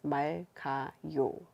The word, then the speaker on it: 맑아요: 맑아요 would be pronounced as 맑아요, like without the 기역.